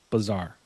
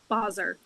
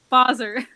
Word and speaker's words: Basar: Uh, Bazaar. Boser. Boser. Damn it. Boser. Boser. I always say like Yeah. I think like the phonetic or however you say it's pronunciation like ba zur.